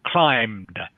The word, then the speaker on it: climbed: okay good that's better so climbed just climbed is how you pronounce it okay next one please